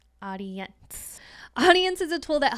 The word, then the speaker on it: Audiense: Next tool is called Audience, but it is spelled differently. So it's spelled AUDIENSE, Audience.